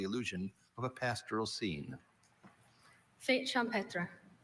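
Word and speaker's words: fête champêtre: Fate champra is a singular noun. It can also be pronounced fate champra.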